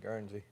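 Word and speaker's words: Guernsey: I'm glad I said that right because I've never seen Gernzie in my life. That's Gernzie. That's how you say it. Gernzie.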